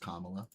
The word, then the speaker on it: Kamala: It's pronounced Kamala.